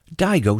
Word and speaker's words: Digo: But if you are interested, I can offer you a new phone called the Digo Social. We say it like the name Diego.